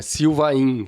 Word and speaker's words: Sylvain: Sylvain se escreve. Mas se pronuncia como se não tivesse aquele I antes do N no final.